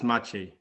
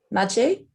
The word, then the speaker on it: Maciej: It's Maciej. Maciej?